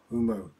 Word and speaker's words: Humo: another way she go one of the best way to to keep it in your head is think of sumo humo so let try with